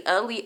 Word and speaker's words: Aaliyah: So my name is literally Aaliyah, like the singer Aaliyah.